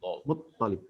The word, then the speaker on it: Muttalib: Muttalib itu toknya di tasjid ya. Iya Ustaz. Apa namanya nih Muttalib? Muttalib.